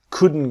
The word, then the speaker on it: couldn't: we couldn't go tomorrow the t is silent so it becomes we couldn't go this is what we